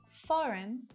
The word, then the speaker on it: foreign: It's that G. Sign, might, design, foreign, and daughter. So what patterns can we see here? We can see that the G is often silent when it's before an N.